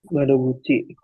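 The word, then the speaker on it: 窓口: Ante dia bacanya. Hai, Sugi, Pantesan. Madoguchi.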